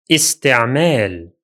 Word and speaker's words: استعمال: The first one will be pronounced as استعمال.